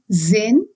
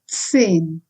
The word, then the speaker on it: zehn: Z is pronounced as ts. It's not zen, it is zehn.